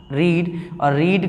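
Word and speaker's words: read: करना है तो आई विल हेव कि पटना रीड का जो सेकंड थर्ड फॉर्म होता है रे स्पेलिंग सेम होती है बट प्रदेश में बदल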